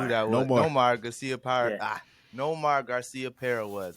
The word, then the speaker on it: Nomar: Nomar Garciaparra.